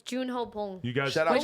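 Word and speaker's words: Bong Joon-ho: Bong, oh wait, it's Junho Bong.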